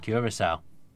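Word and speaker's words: Curaçao: For future reference, not to take the mick because it is actually a hard country to pronounce, it's Curacao. Curacao.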